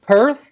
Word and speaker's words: Perth: Perh p I don't know how you pronounce it. Perth.